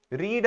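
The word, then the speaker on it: read: yesterday अब मैं आई रीड a book yesterday नहीं कहूंगा बल्कि आई रेड आर ई डी रेड spelling वही है आर ई ए डी लेकिन साउंड किस तरह है उसकी प्रोनंसिएशन है रेड जो रेड कलर है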